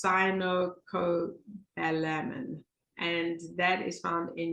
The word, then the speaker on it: cyanocobalamin: And again, here's my pronunciation, cyanocobalamin. That's a mouthful. So it sounds like cyanide, and I can put it in the chat. So it's cyanocobalamin, and that is found in your vitamin B12.